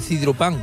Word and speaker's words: sidropán: Yo creo que es la manera ahora de comer un dulcecito de esto así, de este dulce se llama dulce de sidropán, con acento en la an.